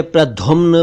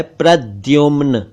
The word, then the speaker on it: प्रद्युम्न: क्रीड़ा एक शब्द है प्रद्युमन कई लोग इसे प्रदुमन प्रदुमन कहते हैं जबकि यह है प्रद्युमन प्रद्युम्न का अर्थ है